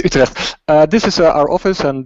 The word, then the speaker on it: Utrecht: you pronounce it as Utrecht, not Utrecht. Sorry. This is it's Utrecht.